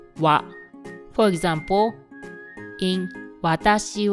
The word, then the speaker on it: は: The hiragana "は" is normally pronounced "ha," but when it is used as a particle in a sentence, it is pronounced "wa." For example, in "watashi wa, (I am … )" the character "は" is read as "wa."